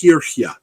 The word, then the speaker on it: Kirche: That that is K. That's how that word is pronounced for church. The K, I can't even picture it in my head. But anyway, it looks like Kirche. That is actually it's pronounced Kirche. And I got that from a friend of mine who is Norwegian who helps me on pronunciation. Good.